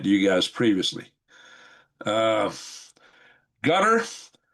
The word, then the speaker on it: Qatar: Uh, Gutter Qatar.